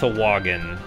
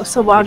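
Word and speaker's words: Sahuagin: It's actually pronounced Sawagin, which, oh, Sawagin. Which is super awkward, okay. But that's how it's pronounced.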